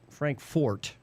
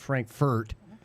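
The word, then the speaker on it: Frankfort: bottled in By and Frank Fort, not Frankfurt because Frankfurt, Germany has a in it, a U. Fort Kentucky, right? And this one was Frank Fort. So, got to say it right.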